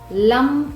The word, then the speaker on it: லம்: சொல்ல வேண்டிய அந்த மந்த்ரா, ரூட் சக்ராக்கு உண்டான மந்த்ரா லம் அப்படிங்கிறது தான், LAM. லம் அப்படின்னு உச்சரிச்சுட்டு ஃபுல் ஃபோக்கஸ் உங்களோட ரூட் சக்கரால மட்டுமே நீங்கள் கவனமாக வச்சுக்கோங்க.